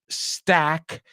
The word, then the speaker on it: Stack: And last but not least, Robert Stack. Y ya sabemos que eso no se pronuncia igual que Stuck. Stack and Stuck.